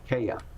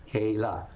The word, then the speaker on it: Kayla: I pronounced her name Kaya, because I couldn't process. It's not my hearing. I couldn't process those sounds. The sound for L is la, Kayla, and so like the